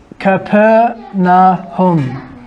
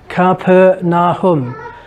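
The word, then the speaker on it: Capernaum: how to spell it now so this you pronounce it like this kappa na hum camper na hum ok this word and hebrew is made up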